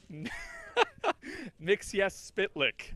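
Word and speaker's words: Mxyzptlk: 459 Lexington Avenue and say the Superman villain mix yes spit lick I hope I pronounced that right if not it doesn't really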